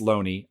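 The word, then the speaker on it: Lone'er: I know it's Loney. I know it is in the back of my head, but like there's another part of mine that is just like, you spell it Loner.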